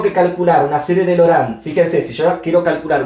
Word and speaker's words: Laurent: Pero la pronunciación correcta es Laurent, ¿sí? Como también Cauchy. Sé que algunos dicen Cauchy porque así es como se escribe. La forma literal es Cauchy, pero en realidad se pronuncia Cauchy, ¿sí? Y en este caso, Laurent se pronuncia Laurent.